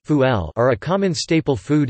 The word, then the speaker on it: ful: Fava beans, Arabic, full pronounced fuel, are a common staple food in the Egyptian diet, eaten by rich and poor alike.